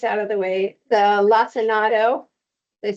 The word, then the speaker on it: lacinato: talking about the kale, and I always said it as Lacinto kale, which is not even how it's spelled, but I don't know, in my head I always called it Lacinto kale, and she's calling it lacinato, and so we looked